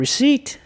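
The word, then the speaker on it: receipt: ถึง ร้อง เรียน เ reat ตัว P ไม่ ออก เสียง นะ นี่ เป็น คำ หนึง ที่ เจอ บ่อย เป็น คำ สำคัญ ใน ตัว อิก มาก เลย นะ ครับ ผม reat คือ เอกสาร ใบ เสร็จ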